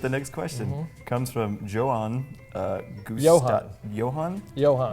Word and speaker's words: Johan: Comes from Johan. Johan. Johan? Johan. Oh, the J is silent. Johan.